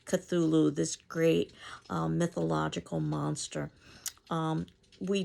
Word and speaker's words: Cthulhu: Part of his mythos is Cthulhu, and it is something that's not supposed to be able to be pronounced with the human tongue. So this is the closest that I suppose we could get to pronouncing it.